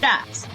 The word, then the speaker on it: Schadt: Please welcome and I forgot to ask you your pronunciation of your last name, but Shhat. Shot.